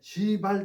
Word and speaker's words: 시발: 이 시발 발음을 세게 하면 큰일 나요. 네, 시발 택시야.